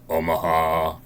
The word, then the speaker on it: Omaha: Omaha and she's like can we just say it like this though Omaha Omaha how is Omaha if you say it if you say Oma Oma then it sounds like it's tropical that sounds racist I